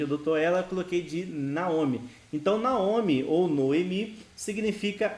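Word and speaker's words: נעמי: a gente vai transliterar a pronúncia desse nome é Naomi inclusive o nome da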